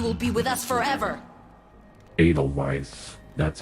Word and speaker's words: Edelweiss: Edelweiss now you will be with us forever Edelweiss that's how you pronounce it I'm going to try to ignore